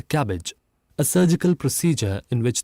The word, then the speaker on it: CABG: Seven, coronary artery bypass grafting or CABG, pronounced as cabbage, a surgical procedure in